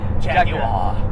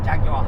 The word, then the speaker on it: Jaguar: Well, you thought it was Jagua? Yeah, like a gangster. Jaguar. I mean, even if you say it that way, it still sounds like Jaguar. you're saying with an R, but you're British. No, I just have to say like proper British, like Jaguar. Jaguar. That's Jaguar. You're saying it correctly.